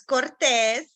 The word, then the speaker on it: Cortez: um it's one end so that's why I pronounce it and it's Cortes and um I am part of the Mainer